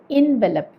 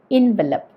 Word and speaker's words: envelop: ഈ വാക്ക് നമ്മൾ പറയുന്നത് ഇൻവെലപ്പ് എന്നാണ്, ഇൻവെലപ്പ്.